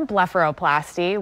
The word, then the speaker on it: blepharoplasty: surgery it's got a difficult for me to pronounce name what does it call so it's called a blepharoplasty we often call it a bluff for short